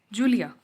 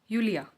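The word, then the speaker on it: Julia: ऐसे ही this in English is जूलिया, लेकिन अगर हम इसे जर्मन में प्रोनाउंस करेंगे तो ये होगा यूलिया।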